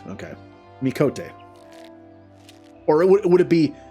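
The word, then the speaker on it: Miqo'te: just say me so it's me cote it's coat and not quote okay mikote or it would it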